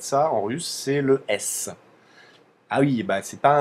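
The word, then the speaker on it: С: comme ça qu'elle s'appelle c'est un S ça fera le son ce comme comme notre s à nous et et voilà donc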